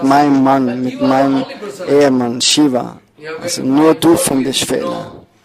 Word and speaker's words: Shiva: There's Shi plus Ba, Shiva.